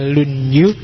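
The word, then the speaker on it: 論語: Yang pertama judulnya Dasu, yang kedua lunyu. Bacanya misah ya kalau disambung jadi lunyu. Y kalau lunyu licin.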